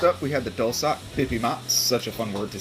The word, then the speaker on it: bibimbap: bulgogi and next up we have the dulcet pippi ma such a fun word to say i think